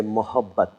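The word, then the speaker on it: मोहब्बत: And if you feel being a little more generous and a little more gentle, then you say mohabbat. Mohabbat. Mohabbat.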